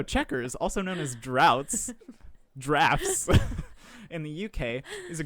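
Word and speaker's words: draughts: tell me anyway though checkers also known as drafts in the uk is a group of strategies do you spell it differently because every article yes i was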